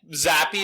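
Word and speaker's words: Zappe: just me oh God Z how do you zappy is how you pronounce it he played well though I know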